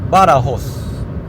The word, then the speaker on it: Badajoz: es aire acondicionado calefacción Badajoz Cada vez que veas una J, pronúnciala como una H Vamonos Estoy a mitad